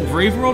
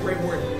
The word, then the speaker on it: Braveword: Is it Braveworld or Braveword? Braveword.